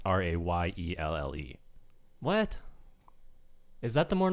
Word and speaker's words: Rheal: Because like I've met girls named Rheal, but it's Rayelle.